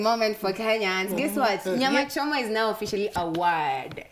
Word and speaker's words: nyama choma: Nyama Choma is now officially a word. Kwa English. In English, it's been recognized by the Oxford Dictionary. Nyam Chom.